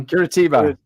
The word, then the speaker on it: Curitiba: Can you pronounce that? Curitiba. Yeah, Curitiba.